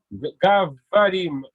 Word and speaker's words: говорим: Gavarim, comme banane.